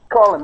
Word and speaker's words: column: to me cuz um you pronounce this column column what does it mean colum colum column okay so a column